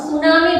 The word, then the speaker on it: tsunami: सुनामी के spelling में T silent रहता है, हम सुनामी बोलते हैं, पर स्पेलिंग शुरू होता है टी से।